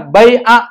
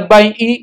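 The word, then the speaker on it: الْبَيْعَ: Artinya jual beli, dibacanya bai'a, nggak boleh bai'i, nggak boleh bai'u. Kenapa? Karena maf'ul.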